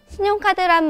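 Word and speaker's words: 信用卡: 신용카드란 말은 우리말 발음과 많이 비슷한데요. 신용카, 신용카 라고 하고요.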